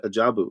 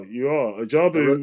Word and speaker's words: Ajabu: little bit more about what goes on at Ajabu, if I'm pronouncing that correctly. Yeah, you are. Ajabu I wrote it down phonetically so I could get it right.